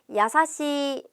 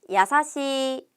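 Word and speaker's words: やさしい: 우리 상냥하다라는 이형용사 야사시입니다 상냥하다는 야사시하고 길게 발음해 줘야 돼요 같이 발음해 봅니다 야사시 다시 한번 야사시 또 한번 야사시 상냥해요라고 존댓말로 하고 싶으면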